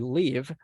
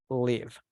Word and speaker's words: live: But when we want to talk about where we live, we pronounce it as live. I live in San Salvador.